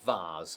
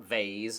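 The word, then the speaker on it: vase: I am a feminist bars is pronounced vas obviously not vas or vas and certainly not V which I've never even heard of but which the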